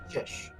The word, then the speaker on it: Chish: run uh the verify how is your name pronounced fish okay so I was getting it right cuz